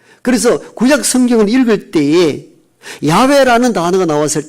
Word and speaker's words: 야훼: 그래서 모음 부호를 붙여서 야훼, 이게 히브리의 정확한 신의 이름입니다. 우리가 야훼라는 이름도 많이 들어보셨죠? 이걸 영어식으로 발음을 표기하다 보니까 영어식으로 여호와라 하는데 히브리의 음가는 야훼 하나님이십니다.